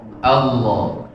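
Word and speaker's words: الله: Allah itu bibirnya diam. Allah. Allah. Allah. Dia main lidah.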